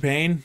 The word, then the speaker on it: Payne: My name is Payne. That's with a K, Payne with a silent E at the end.